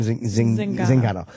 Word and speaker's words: Zingano: Zingano.